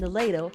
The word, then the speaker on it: Alito: Alito or Alito?